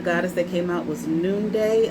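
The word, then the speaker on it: Nunde: And the goddess that came out was Noonday. I believe that's how you pronounce it, N-U-N-D-E.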